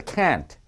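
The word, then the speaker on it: can't: 캔터 라고 합니다 이때 켄트 는 길게 발음 해야 됩니다 캔 이렇게 해야 됩니다 그러자 캔트 태안 어 혀를 요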